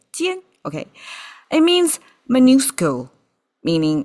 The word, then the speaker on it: 戋: I had to check out a dictionary to find out the pronunciation. Jian, okay.